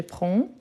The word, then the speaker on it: prends: Et moi, je prends. N'oubliez pas le DS à la fin, même si on ne les prononce pas.